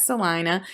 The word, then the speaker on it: Celina: there are opportunities in salina by the way we pronounce that celina and anna and uh